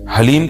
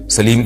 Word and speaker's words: حلیم: ایک سوال ہے جی حلیم کا تلفظ کیسے کریں؟ سبحان اللہ، یہ محرم میں لوگ حلیم بنائیں گے تو کچھ حلیم کو دلیم کہہ رہے ہوں گے، کچھ سلیم کہہ رہے ہوں گے، کچھ وسیم کہہ رہے ہوں گے.